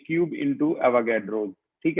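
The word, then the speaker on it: Avogadro: जो है आपका एवोगैड्रो, इसका नाम एवोगैड्रो ही प्रोनाउंस होता है क्योंकि ये इटली का रहने वाला था, वहां पर ऐसी ही स्पेनिश इटली ऐसी लैंग्वेज है।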